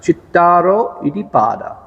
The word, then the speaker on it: Cattāro Iddhipādā: So this this word in Pali is pronounced chitaro idipada.